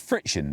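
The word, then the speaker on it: FriXion: So instead of using Vibram, they've used their own rubber, which is called friction. Now we think it's pronounced that, it's actually spelled with an X.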